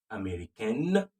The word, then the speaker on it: américaine: Je suis américaine for the female. The N now comes out. You add an E to it.